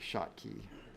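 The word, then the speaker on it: Schottky: it's the shotkey diodes oops spell it right s-c-h s-c-h o-t-t k-y that's like shotkey these are the new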